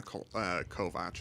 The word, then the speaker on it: Kovacs: Then he's doing just a Kovacs, which is actually pronounced Kovac.